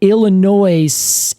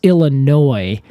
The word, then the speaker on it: Illinois: Illinois State University so I was saying Illinois and then they cut me off and then they stopped and were like It's pronounced Illinois and I was like